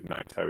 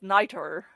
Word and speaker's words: Naito: This is like the people who pronounce Naito as Niter.